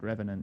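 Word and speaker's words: The Revenant: It's pronounced Revenant, if that's the word you're looking for.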